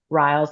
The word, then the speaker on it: Ryals: I always say rials like clinical trials.